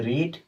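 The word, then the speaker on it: read: याद रखिएगा, पढ़ने की अंग्रेजी होती है रीड, इसकी सेकंड फॉर्म होती है रेड। स्पेलिंग वही होती है, बस प्रोनाउंस दूसरी जगह, मतलब दूसरा करते हैं। रीड, रेड, अलग अलग प्रोनाउंस करते हैं।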